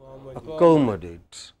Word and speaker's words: accommodate: What is 2 syllables before ATE? Count? Co. So, how would we pronounce it? Accommodate.